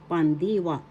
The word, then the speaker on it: pandiwa: p second syllable syllable the accent is in the second syllable D pandwa that's how you pronounce pandiwa pronunciation inagalog is bigas